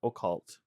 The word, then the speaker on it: occult: used yes so the word we're using is occult OC c c l t and just to